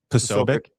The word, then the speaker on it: Posobiec: How do you pronounce his last name? You can Posobiec.